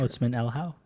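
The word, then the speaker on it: Otsmane-Elhaou: Marco, do you know how to pronounce Hassan's last name? I hate Hassan that. Otsman El How.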